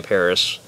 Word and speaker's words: PVRIS: only love the guys no no Paris pvris that's how you say it by the way Paris they are my favourite